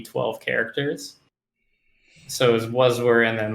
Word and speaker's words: Waswere: So when I tell the story, you'll figure out how it's pronounced. But basically, originally, it was something like 12-year-old me came up with like Waswere you all, like where are all of you guys?